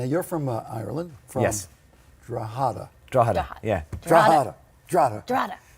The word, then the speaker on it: Drogheda: Drogheda.